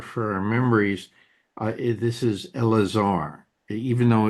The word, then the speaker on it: Eleazar: This is Elazar. Even though it's it it's typed out as Eleazar, it's pronounced Elazar as Rabbi Mary was mentioning.